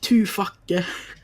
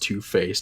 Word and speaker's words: Two-Face: just like, oh yeah, I really like Two-Facke. And he's like, it's pronounced Two-Face. And I was super embarrassed. I didn't want to admit that. I was just like, haha, I said it wrong. But I just actually thought his name was Two-Facke. Because I didn't realize that C's sometimes are S's.